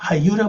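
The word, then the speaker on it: היו: 하이유, 그럽니다. 하이유라고 발음하죠.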